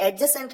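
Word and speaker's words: adjacent: ये जान लीजिए की एजेंट ए डी जे ए सी ए एन टी इसमें दी साइलेंट होता है इसलिए एडजेस्टमेंट नहीं बल्कि एडजेसेंट कहते हैं देखिए सेंटेंस आपके सामने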